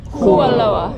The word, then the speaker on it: Kualoa: Kualoa. Hey, my cut you. Do like you guys' pronunciation.